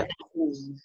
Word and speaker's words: Atif: Go on, Uh, yeah, Atif. How yes, do you, am I pronouncing your name correctly? yes, you are pronouncing my name correctly. It's Atif, Okay.